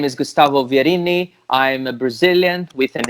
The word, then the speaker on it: Vierini: Yeah, it pronounces like an Italian name. It's Vierini. Vierini. Verini.